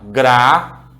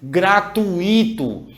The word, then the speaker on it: gratuito: gratuito como separa gratuito por favor não vá dizer gratuito gratuito não existe gratuito ele não tem inclusive acento gratuito um é uma vogal